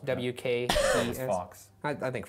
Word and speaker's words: Fawkes: I don't know how it's pronounced. F-A-W-K-E-S. Fox. I think Fox.